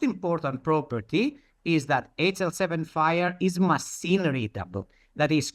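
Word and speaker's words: FHIR: That word that you see here FHI the FHI we pronounce fire like uh the fire.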